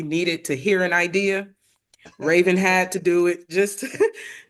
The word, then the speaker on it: Rayven: I'm not going to mess up her last name, but her name is Rayven. And did I pronounce that right?